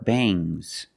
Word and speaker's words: bangs: about NG plus s when you have S after NG it makes the nasal sound M but it also makes a little G sound but not a hard strong G these are bangs bangs there's a little